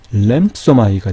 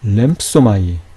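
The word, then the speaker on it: λήμψομαι: 그래서 무성음까지 살려서 읽게 되면 램, 뿌, 소, 마이가 되겠지만 뿌는 거의 발음이 되지 않으니까 램소마이가 되겠죠. 램소마이.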